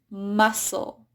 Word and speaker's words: muscle: So in C, it's not pronounced in the ending of scle. So the easiest word there that comes to mind is muscle. Notice how that C is just silent.